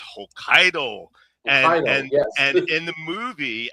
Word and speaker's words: Hokkaido: Hokato. It's not Hokkaidato, it's Hokkaido.